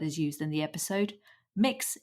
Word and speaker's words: Mx: used in the episode mix is how the gender-neutral title mx is pronounced it was recorded on